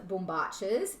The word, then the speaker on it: bombachas: probably see that but that's why i love bumbaches that's how you pronounce it but don't worry if you can't